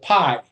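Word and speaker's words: π: about the Greek letter we call it pi in Greek it's pronounced P you have the the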